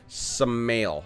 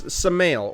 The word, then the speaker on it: Samael: I think you pronounce this SAMAEL when it's like this, like Maelstrom, right? Like Maelstrom. Think of, like, if you're for the World of Warcraft players, the Maelstrom, right? It was spelled M-A-E-L, so it's SAMAEL or Sammy.